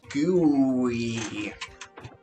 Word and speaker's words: GUI: yeah fingers crossed guys why do you pronounce gooey I call it GUI I I mean different different um GUI that's um I don't know everybody that I've ever heard um pronounce it calls it gooey goo sounds kind